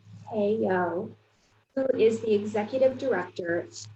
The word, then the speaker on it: Hei-ock: Hei-ock, pronounced Hei-ock, who is the Executive Director and founder for the Kim Center for Social Balance.